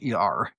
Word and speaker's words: Sher: It's not spelled like the artist share. It's Sher. Yes, it's like the diva, but with an S.